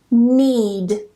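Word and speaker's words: knead: Basically, whenever you get this combination of K and N together at the beginning of a spelling, we just don't pronounce the K. It's completely silent. Don't ask me why it's there. I didn't put it there. Someone else did. Blame them. So just don't pronounce the K. Go straight to the N and pronounce it as N.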